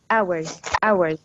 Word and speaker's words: hours: The day is 24 hours. The H is silent, okay?